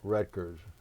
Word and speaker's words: Roettgers: World War two veteran Staff Sergeant Jerome H wreckers is it correct pronunciation of your that's right that's right and